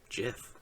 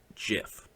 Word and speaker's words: GIF: the real answer is jiff Steve Wilhite created it and therefore he named it the Oxford English Dictionary accepts both pronunciations Wilhite said they are wrong it is a soft G pronounced jiff end of story seems